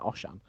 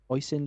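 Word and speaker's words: Oisin: first name Aussie oh it's not like oshan it's awesome o-i-s-i-n oisen Leach from the 747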